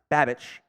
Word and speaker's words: Babich: Would Bobby, I think it's pronounced Babich, be a bad hire for the Giants DC?